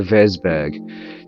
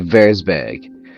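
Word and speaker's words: Würzburg: I have to remember it is the W is a v so it's a ver big all right so my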